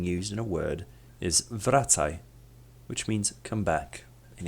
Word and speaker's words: wracaj: Therefore, the Polish W is pronounced like the V in the word vulture. An example of this letter being used in a word is wracaj, which means come back in English.